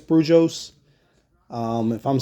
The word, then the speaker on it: Brujos: having um you know it's b r UJ oos I think it's brujos um if I'm saying